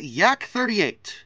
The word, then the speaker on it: Yak: Or I guess, technically, the pronunciation should be YAK-38, but I've never met a single human being that says YAK. It's like with the MiGs. No one says MIG in their case. So Yak-38, whatever.